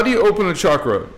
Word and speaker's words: chakra: chakra good question only one and actually it's pronounced chakra and that's okay because I when I first heard the word I thought it was chakra too but it's cha chakra and and another thing real quick I want